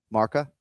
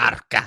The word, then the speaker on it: Marca: Did I pronounce that right? The Spanish magazine? What is it called? Marca? I think that's correct. Yeah. Okay. All right. Just making sure. Marca.